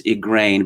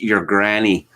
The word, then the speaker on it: Igraine: joking that they were pronouncing it not as igraine but as your granny ah there are plenty